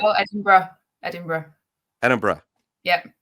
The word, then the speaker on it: Edinburgh: while, and I made a lot of jaunts over to Edinburgh. But am I mispronouncing? I know some people say Edinburgh, That's Edinburgh. wrong. That's wrong as Right, well. Edinburgh. Edinburgh.